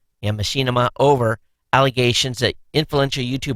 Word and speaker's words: Machinima: network uh M uh machine I'm going to pronounce this wrong m d h i n i m Machinima yeah Machinima over allegations that influential YouTube broadcasters were improperly